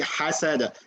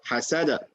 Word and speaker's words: حسد: Okay, you say حسد. حسد. حسد. It sounds very similar, but try that this way. حسد.